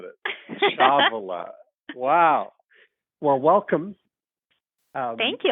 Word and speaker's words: Ciavola: I don't want to get your last name wrong. How do you say it? It's Ciavola. It's one of those good Italian names. That's not at all how I would have said it. Ciavola.